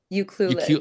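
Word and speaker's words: Ucluelet: Uclul.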